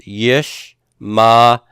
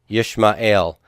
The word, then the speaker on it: Yishmael: You do not pronounce it. So this is pronounced Yishmael. Yishmael. And you don't try to pronounce that aleph.